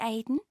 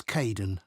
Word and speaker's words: Kaeden: Hi, Aidan. It's Caden. I'm so sorry. Oh, don't worry. People often get my name wrong.